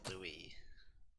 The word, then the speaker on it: Louis: It always bothers me that his name is spelled like Lewis, but his name is actually Louis. I always look at it and go, what? Pardon? And then I tend to call him Lewis a lot as well.